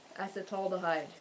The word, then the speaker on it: acetaldehyde: of alcohol called acetal now I got the pronunciation yes yesterday as the tall dehyde acetaldehyde which can form in your mouth almost immediately